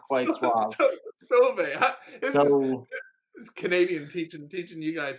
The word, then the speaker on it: Sauve: Sauve. This Canadian teaching you guys how to pronounce. Is that what it is? How do you pronounce it? Sauve. S-A-U-V-E.